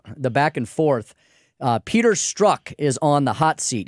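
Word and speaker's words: Strzok: what did you learn we have been pronouncing his name wrong all this time it's not struck it's struck really it's true double oh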